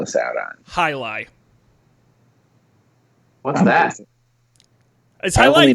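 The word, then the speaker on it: jai alai: How do you spell it? It's Jai A-L-A-I. Jai-lai.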